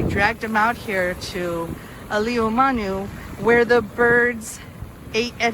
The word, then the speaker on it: Āliumanu: difference in meaning so today it's known as aliomanu as opposed to a liuman so you can hear the slight difference in pronunciation but this is what